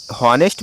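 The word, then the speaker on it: honest: देखो हॉनेस्ट में एन लगेगा। क्यों एन लगा? क्योंकि इसका एच साइलेंट है।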